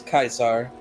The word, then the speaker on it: Caesar: New Vegas right yes kaisar uh that's how you say it in Latin basically oh she lances the largest